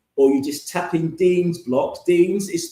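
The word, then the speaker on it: Dienes: So I've mentioned about um I've mentioned about the deans the base 10.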